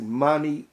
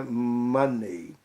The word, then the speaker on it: money: E a pronúncia da palavra, das letras EY na palavra money corresponde a IE, money em português, essa de jeito nenhum vai estar correta. Então, lembre-se, money, Mickey, Sydney, não é money.